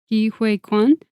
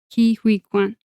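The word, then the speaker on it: Ke Huy Quan: found it right now Oh, sorry for my pronunciation. Ki uh Kiwi Kuan. Kiwi. I'm sorry that's so bad. It's It's K E space H u Y space Q U A N. Kiwi Kuan, I believe is how you pronounce it.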